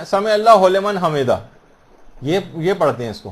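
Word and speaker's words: سمع الله لمن حمده: عام طور پر لوگوں کو دیکھا گیا سمع اللہ لمن حمدہ یہ پڑھتے ہیں، اس کو ہو لمن نہیں ہے، سمع اللہ لمن حمدہ.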